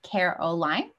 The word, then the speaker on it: Caroline: she her pronouns and you can pronounce my name like caroline just to give you